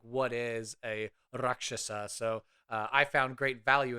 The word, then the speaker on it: Rakshasa: Well, Cirrus is a Rakshasa, or Rakshasa, as it's pronounced properly.